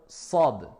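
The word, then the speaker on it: ص: Contrairement à la lettre Sad, qui est avec at-tafkhim, avec emphase. On remplit la bouche, c'est plus grave.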